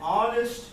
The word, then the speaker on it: honest: An honest face, right? We have and, the article and, because we got a vowel sound there, right? The H is silent.